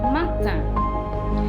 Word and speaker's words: matin: The word for morning is matin. The IN is pronounced just like in the word India or Indian and Indien, and matin.